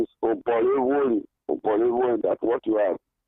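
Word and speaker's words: Oborevwori: You don't pronounce it properly. So the name is Obolewoli.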